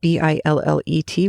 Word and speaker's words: billet: uses the word ba b-i-l-l-e-t which I had only ever heard as Billet and in fact all of the English dictionaries I have say Billet is the correct way to pronounce it and I'd only ever